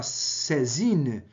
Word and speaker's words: saisine: segunda pergunta aplica-se o princípio da sé zine né princípio francês se escreve saisine está entre aspas porque é uma expressão francesa lá do código civil